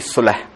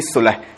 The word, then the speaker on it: Solh: Okay, it's not actually Soul Wellness. It's actually Solh. It's a Hindi word. Okay, but to my global audience, I call it Soul Wellness because it's easier for them to pronounce. It looks cool. It associates with soul. It's actually Solh. It means making peace.